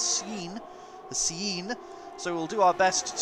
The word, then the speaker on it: CN: He wants us to pronounce it as Cien.